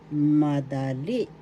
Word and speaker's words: madali: katinig or consonants ma Madali madali madali easy in English first syllable ma second syllable syllable the accent is in the third syllable madali madali madali easy